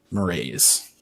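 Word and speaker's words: Mraize: smirks and he says you may call me murray's m-r-a-i-z-e not with the w damn it oh w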